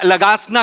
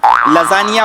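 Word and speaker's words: lasagna: दिवशी आपण हा खाऊया लगासना खाऊया लगासना तुमच्या बापाने केला होता लगासना लजानिया बोलता येत नाही स्पेलिंग वाचून लगाना बोलता तुम्ही तुमच्या बापाने केला होता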